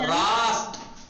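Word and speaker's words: راست: ये वाले को सब, कैसे प्रोनाउंस करेंगे हम? रास्त, रास्त, रास्त, चप चप, रास्त, लेफ्ट राइट, चप रास्त, ठीक है, मिटा दूं, पाकुनम, अगर रास्त रास्त, देखिए जी जी, रास्त सीन है, जी तो हो गया।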